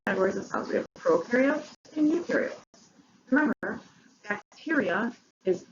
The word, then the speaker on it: prokaryote: We have prokaryotes and eukaryotes. Remember, bacteria is the only thing that is a prokaryote. So prokaryotes are bacteria. Now remember, pro rhymes with no because prokaryotes have no nucleus and no membrane-bound organelles.